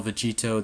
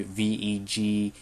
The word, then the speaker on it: Vegetto: For me, I always say I would spell Vegito the Japanese way, Vegetto.